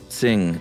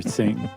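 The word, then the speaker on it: Qing: Uh Q may be roughly pronounced as TS. Not exactly the same. So just say sing next time.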